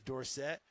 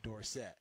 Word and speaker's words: Dorsett: at Pittsburgh it was Tony Dorsett Dorset does have a little more an indoor set with the punching the the door set and I played for his college coach Johnny Majors he coached coach Tony and you know Tony I was his baby now okay yeah his all-time favorite sure to the day coach Majors died he called him Dorset because he never had that door set yeah if you go